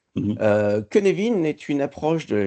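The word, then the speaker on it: Cynefin: Alors euh comme dirait Coluche et s'écrit pas comme ça se prononce ça s'écrit sin mais ça se prononce Kenevin parce que c'est du galois. Hm hm. Euh Kenevin est une approche de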